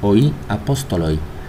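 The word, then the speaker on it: οἱ ἀπόστολοι: Bueno, en la pronunciación erasmiana se diría así, oí apóstoloi.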